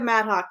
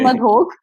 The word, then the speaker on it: Madhok: So my last name is Madhok. Okay, and you're supposed to say it like Madhok. Depends where you are in India. Madhok.